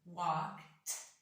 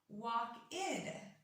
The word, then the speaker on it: walked: When I would say it, it would be walked, almost with a T sound at the end. I walked to the store with my friend. But many times this ed is actually pronounced id. Walk-id to the store, which is not the right one.